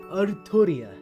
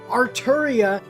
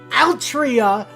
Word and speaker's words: Artoria: If you listen to the Japanese, it's very clearly Artoria. Right? It's Artoria. That's what they want. And they insist that this is the correct way to spell that. Chat is very upset. Everyone is upset. Everyone in the West is fucking mad about this. Artoria is correct.